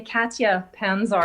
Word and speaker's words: Katja Pantzar: Yeah, actually in English I say Katja Pantzar. Katja. It's just too Thank complicated you. to pronounce.